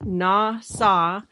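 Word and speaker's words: נָשָׂא: pointed out that the word NASA and it's pronounced na saw his Strong's five three seven five and it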